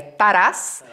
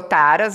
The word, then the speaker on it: Taras: as pessoas perguntam muito pronúncia correta seria tharas na e ficou Taras abrasileirado e tal e tá